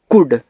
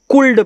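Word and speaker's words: could: एच ई ही सी ओ यू एल डी को पढ़ते हैं कुड। अब बहुत स्टूडेंट इसको कुल्ड पढ़ देते हैं क्योंकि यहां एल को आधा कर देते हैं।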